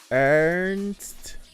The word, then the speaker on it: Ernst: Ernst. Air like her and nest, but cut out the.